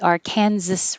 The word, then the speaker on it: Arkansas: that here it's pronounced arkansas arkansas if the river is inside kansas which it goes through different states but if it's inside the state of kansas it's called the arkansas river um i'll say i'll